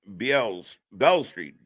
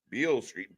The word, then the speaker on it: Beale Street: It's pronounced Bell Street. Beale Street.